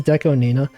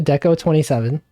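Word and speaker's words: DECO*27: Most people say Deco 27. And I usually, if I'm in chat, I'll be like, streamer, did you know the 27 is pronounced Nina? Because in Japanese, the 2 can be pronounced Ni, and the 7 can be like, it's Nana.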